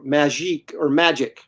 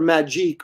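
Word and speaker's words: Magik: It was all this sort of just their motorcycle outfits or whatever they were, magic, I guess. Yeah. I always called her Magique, but it's actually pronounced magic.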